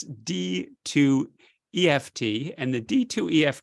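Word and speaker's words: D2EFT: of second line regimens it's called d 2 EFT I think that's how you say it rather than d2fft but it's D to EFT and the d2ef T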